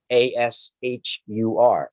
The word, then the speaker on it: Ashur: from the their god their sun god ashore a-s-h-u-r ashur even the persians they used it ahura